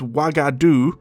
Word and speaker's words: Wagadu: the name is pronounced wagadu as I've been pronouncing it which just so happens to be identical to the kingdom of wagadu the name given for